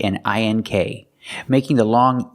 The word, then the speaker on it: ink: We also taught the American pronunciation of ANG and ANK, making the long A sound, like day and say. Ang, ank, like sang and sank.